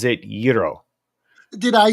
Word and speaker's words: gyro: New York or Pittsburgh if Greek people say Euro it is Euro if Turkish people say